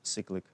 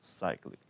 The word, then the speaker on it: cyclic: I know some people pronounce it cyclic, but whenever I see cyclic, it sounds like sick, right? So I don't like it. So I usually pronounce cyclic, right?